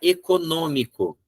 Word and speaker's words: econômico: Mas agora a palavra econômico é terminada em O, ela seria uma paroxítona. Econômico? Não, econômico. A tônica está onde? Ó, 1, 2, 3. É a terceira de trás para frente, ela é uma proparoxítona.